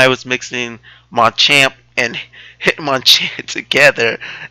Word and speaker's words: Hitmonchan: Am I saying it right? Hitmonchan. Hitmonchan. There you go. I'm putting two Pokemon together, and those models look awesome. Yeah, an easy way to remember that: Bruce Lee, Jackie Chan.